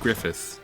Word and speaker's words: Griffid: Now, the double D at the end is Welsh spelling. You may remember a certain wolf man named Bllythe. So, uh, it's Griffith. it would be pronounced Griffith.